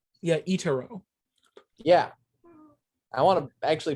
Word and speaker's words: Itorah: think it's very I just realized I've been mispronouncing the title. It's Itorah. I've been calling it Itorah. See, it looks very pretty and very I was replacing the A and the O.